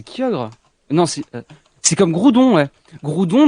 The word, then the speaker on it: Groudon: nancy c'est comme roudet groudon normalement on devrait dire gros donne mais c'est dégueu attend série comment régis